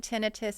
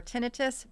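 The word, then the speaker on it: tinnitus: Um, technically speaking, tinitus is not an inflammation, which is what the suffix itis typically implies, which is why in the aiology field we prefer tinitus, but both pronunciations are are acceptable.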